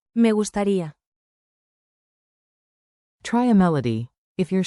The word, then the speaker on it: Me gustaría: Tap the rhythm and speak with a gentle tone. Clap, clap, snap. Me gusta ri a. Say it smoothly. Me gustaría.